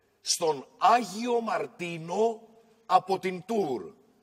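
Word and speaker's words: Tours: άγιο μαρτίνο από την τουρ ρς γράφεται απλά είναι η γαλλική πόλη το τελικό δεν προφέρεται στον άγιο μαρτίνο από την τορ η αφιέρωση αυτή δεν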